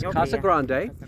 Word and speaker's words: Casa Grande: Grande Kasa Grand is that how it's said Kasa Grande you did a wonderful job yes Kasa Grande and you're the one learning Spanish that means